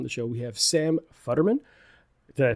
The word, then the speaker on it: Futterman: Today on the show, we have Sam Futterman. Did I pronounce that correct?